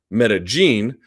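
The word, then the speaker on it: Medellín: one that person says about that double L as a Y as a J, that means Cynthia Calvillo would have to pronounce Medellin.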